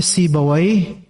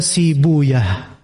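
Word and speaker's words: سيبويه: Pakar nahu namanya si bawwai sebagian menyebutnya sibuyah gitu gitu ya.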